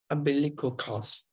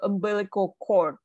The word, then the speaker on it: umbilical cord: on one second so umbilical cord so there's a d here I believe called right so um so right now you sound more like costs like c-o-s-t so it's a chord yep that's that's that's